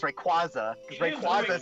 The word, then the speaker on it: Rayquaza: I'm like, no, it's Rayquaza. It is Rayquaza Rayquaza. sounds calling him better. Ampharos. Official pronunciation legit.